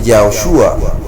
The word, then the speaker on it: Yahushua: Si reemplaza la letra más reciente J en nombre de la Joshua o la Y original, tiene la pronunciación de Yahushua.